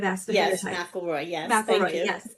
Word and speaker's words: McElroy: Did I pronounce that right? I should have asked ahead of Yes, time. McElroy.